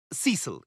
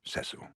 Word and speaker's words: Cecil: that look doctor pritchfield Cecil if I may it's pronounced sesor damn it but again